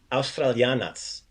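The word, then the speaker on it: Australijanac: So that R sound, make sure you give that R a roll. So you pronounce it like an American would. Ja sam Australianac. Try to give it some more Croatian.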